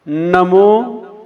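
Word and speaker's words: णमो: नमो अरिहंताणम। ड़म नहीं होता है, नम होता है।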